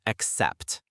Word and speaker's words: accept: The pronunciation is accept with the stress on the second syllable.